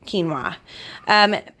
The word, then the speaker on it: quinoa: and wheat protein see I said it right quinoa so we're gonna give this a whirl and